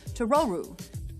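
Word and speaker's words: トロル: english speakers out there the name totoro is an intentional mispronunciation of the japanese word for troll to roru the idea is that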